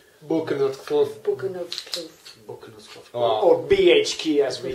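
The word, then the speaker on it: Boekenhoutskloof: And can you pronounce the name of your estate correctly? Buchenutkloof.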